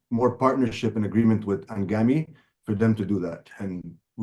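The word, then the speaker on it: Anghami: like there is one audio streaming platform called angami a n g h m a m i it is pronounced angami I think if you have might heard about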